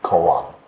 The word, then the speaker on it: kōan: you hearing the word or huato the japanese pronunciation would be koa raise your hand those of you who have